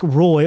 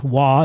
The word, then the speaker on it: Roy: best goaltender in history patrick roy or wah as the chronic pronunciation was a firm believer